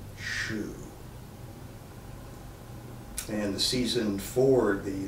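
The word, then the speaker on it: 嘘: your body this area the sound is shoe written in pinyin as xu pronounced like well what we wear on our feet shoe and the season for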